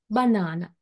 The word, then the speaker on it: banana: also being understood clearly look at those examples a word banana banana so here the primary phras in on the syllable na second syllable banana and also the word